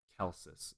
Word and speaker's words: Celsus: Celsus is usually pronounced Celsus, if that helps. Gotcha. I'll keep it as Celsus then.